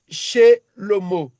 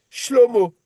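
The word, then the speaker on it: שלמה: Ou ici, on dit Shelomo. Mais on devait dire Shlomo.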